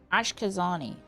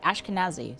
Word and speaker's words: Ashkenazi: Ashkazani. Is that Kenazi? Ashkenazi.